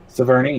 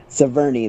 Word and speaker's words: Sevigny: Was that Chloe Sevigny? However you say her name. Sevigny, yeah. Sevigny, that's how you say her name.